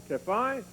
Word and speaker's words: Tephi: Jeremiah, along with Tephi, I am told that's the way to pronounce it, Tephi and others took these precious objects from Jerusalem.